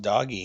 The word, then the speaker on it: Doge: that AMC will recover it's pronounced doggy huh doggy doggy coin shoot I was